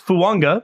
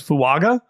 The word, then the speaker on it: Fuaga: watch the NFL Network he did tell everybody there it is fua like to a you really given me a lot of pronunce I spent a lot of time looking up pronunciations and that I should have just called you no I I like I thought it was fuaga and then I've been